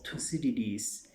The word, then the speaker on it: Thucydides: Realistic ideas and realist ideas were found in the writings of Thucydides before Christ. So many people pronounce it Thucydides.